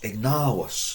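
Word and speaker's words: ignavus: Ignavos. Long A. Ignavos. Remember the V is, we're told, pronounced more of a W. If you want to do it as ignavos, it's fine.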